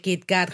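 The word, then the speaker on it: キットカット: a ver a ver cómo se pronuncia kitcat en japonés kit Cat kit Cat no como con doble T Pues eso para Los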